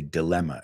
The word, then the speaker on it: dilemma: We say dilemma. No decimos tanto la I latina.